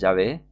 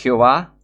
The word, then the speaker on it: Jehová: ahora pueden saber que la pronunciación correcta del nombre del Antiguo Testamento de la deidad a la que sirven es Yahvé? Claro que no es Yahvé. Claro que es Jehová. Obviamente es Jehová.